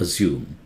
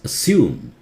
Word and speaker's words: assume: Double S does not exist. It's not assume. It's assume in British. Assume. American, assume.